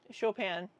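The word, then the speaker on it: Chopin: Is it show pen? Where is the pronunciation key for your name? Shopan.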